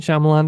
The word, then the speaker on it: Shyamalan: Night Shyamalan decided to put out a live action and